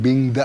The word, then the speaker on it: बिंगदा: इसीलिए जब रांची से इधर आते हैं, एक जगह बिंदा है, एक्चुअली बिंदा नहीं बिंगदा है।